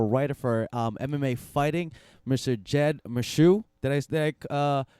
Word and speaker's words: Jed Meshew: Jed Meshew. Did I pronounce that correctly?